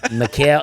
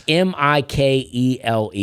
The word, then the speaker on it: Mikhail: Yeah, I mean, Mikhail, it's Mikele.